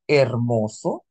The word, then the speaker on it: hermoso: to remember some rules the H is Silent say hermoso When there isent you